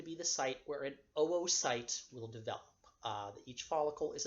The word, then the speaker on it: oocyte: with the 2 O's, to put an umlaut, 2 little dots over the second O. That's basically like a pronunciation placeholder that shows you pronounce each O separately. So it's not oocyte or oogenesis, it is OO.